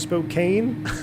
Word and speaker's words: Spokane: uh according to flight deck to sim it's pronounced spokane oh yeah that there would be that would